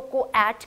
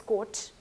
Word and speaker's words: coat: बात करेंगे कि क्यों हम इसको कोएट क्यों नहीं कहते, why it is pronounced as coat, we will talk about that.